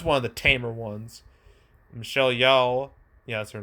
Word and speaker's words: Michelle Yeoh: Michelle Yeoh.